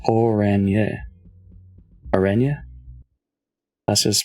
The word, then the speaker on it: Orange: Orange is pronounced Oranje.